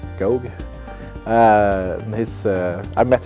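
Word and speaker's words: Gough: written by Julian go I think his name is pronounced go uh his uh I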